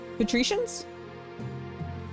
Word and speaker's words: patricians: Patricians. Okay. Okay. Okay. Okay. Um, say it like partition and then remove the R and the T. So, patricians.